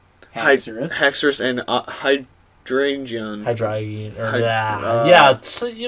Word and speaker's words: Hydreigon: Hydreigon. Or, Hy- yeah, so, you know, some Word. people don't pronounce it. Hydreigon.